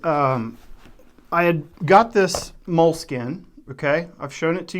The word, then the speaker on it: Moleskine: Inside of this moles- Moleskine or Moleskin. I know it's pronounced Moleskine, but I live in West Texas and I don't say Moleskine.